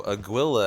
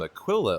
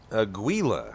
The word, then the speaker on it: Aguila: And so Aguila, I'm so sorry I've been pronouncing your name Aquila all day. I've been looking at it, and just my mind overwrites the G, and it goes straight to a Q due to the U.